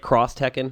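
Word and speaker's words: X Tekken: is that the right way to say it cross Tekken yes I hate it uh and uh the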